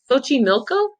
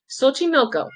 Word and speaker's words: Xochimilco: lake I actually don't I'm not too familiar with exactly how to say this lake but I think it's Bochy Milko Xochimilco visit come from all